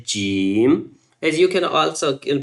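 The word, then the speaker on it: جيم: It's like jim. When you say jim, it's a kind of whistle sound but not complete whistle sound.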